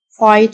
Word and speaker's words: fight: أو يناضل من أجل fight for الgh silent يأخذ حمام have a